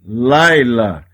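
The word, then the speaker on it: לילה: Neste caso, não lê o som do Shevá, apenas o som do Yud.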